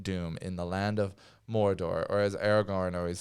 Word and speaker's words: Mordor: They love to trill the R's on Mordor, yeah. Mordor. Yeah. Like it's in Spain or something. Yeah. Mordor. So odd. It is canon. It is canon. It's canon to say it like that.